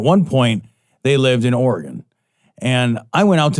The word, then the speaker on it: Oregon: and my grandparents and i would pronounce it oregon oregon oregon sure and my grandfather would give me no end of he's like it's oregon not oregon and i'm like it